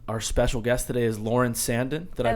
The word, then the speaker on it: Lauren Sanden: again um and our special guest today is lauren sandon did i pronounce that correctly yes you did yes lauren